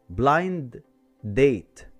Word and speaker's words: blind: القاعدة بتقولك لو لقيت صوت حرف الدي جاي في آخر الكلمة between two consonant sounds شيله خالص وما تنطقهوش. مثال blind date هتبقى blind date.